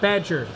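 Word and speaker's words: B'dg: He says, it's like Badger, but Badge. You don't say the jur part.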